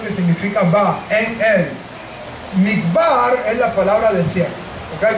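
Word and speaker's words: מדבר: Pero en hebreo la palabra midbar se escribe con las letras mem, dalet, bet, resh.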